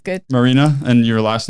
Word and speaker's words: Maryna: is that said right marina but it's good marina and your last name is pronounced that's correct yeah okay marina okay well